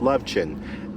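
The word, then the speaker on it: Lovćen: I believe it's pronounced Lovecen, L-O-V-C-A or C with a slash E-N, L-O-V-C-E-N.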